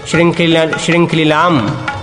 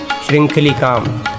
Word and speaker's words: श्रृंखलिकाम: फिर परिमुंचति मुंचति श्रृंखलिलाम का उच्चारण करें। परिमुंचति मुंचति श्रृंखलिलाम श्रृंखलिलाम परिमुंचति परिमुंचति श्रृंखलिलकाम श्रृंखलिकाम परिमुंचति परिमुंचति श्रृंखलिकाम का उच्चारण करें। लास्ट वाला सही है सर।